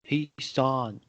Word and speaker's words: حصان: hisan, So it's not ha sound, it's ha from the throat. It's not like the English ha sound in the word house, for example. It's not ha, it's ha.